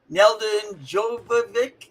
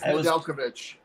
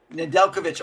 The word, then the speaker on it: Nedeljkovic: I always say his name. Neldon Jovovic, the goalie. Do you know how to say his name? Alex Nedeljkovic. Nedeljkovic. Oh, very good, man.